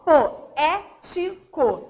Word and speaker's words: poético: Repara, ó, eu tenho aqui a última sílaba, penúltima, antepenúltima. Qual é a regrinha da proparoxítona? Toda proparoxítona é acentuada. A sílaba tônica é a antepenúltima, então tá com acento.